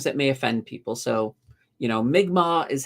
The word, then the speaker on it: Mi'kmaq: So, Mi'kmaq is how it is. And I'm like, okay. And here's the funny thing. And this is kind of my response to this. I've been calling them the Micmac my entire life, and nobody ever corrected me.